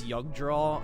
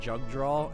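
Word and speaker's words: Jugdral: And also the J in it's a German J for pronunciation. Like, you tell me it's Yugdraw and not Jugdraw, and you've let me say, oh no, and Youngby, and I've been saying Jungby the whole time.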